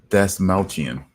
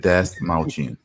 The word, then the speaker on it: Dasmalchian: guy, because I have no idea how to pronounce that. David Dasmalchian. Okay, That's how you pronounce it? Huh? David, that's not Yep. just like, I'm serious. David. Yep, David Dasmalchian.